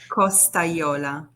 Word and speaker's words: Costagliola: Please, how do you pronounce your last name? Costagliola.